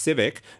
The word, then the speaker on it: CVCC: I heard it's pronounced Civic.